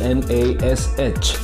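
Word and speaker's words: gnash: dwarf number three g n a s h how do we pronounce this word we pronounce this word as nash meaning to grind the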